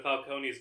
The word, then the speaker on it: Falcone: testifying against mob boss Carmine Falconee or Falcone they pronounce it in this film for some reason.